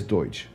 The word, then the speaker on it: Deutch: It is Deutsch. It's Deutsch.